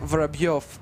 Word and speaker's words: Vorobyov: It's pronounced like Vorobyov, but we don't have any letter which shows that it's Byo. You can see this. So in English that would be read like Vorobev.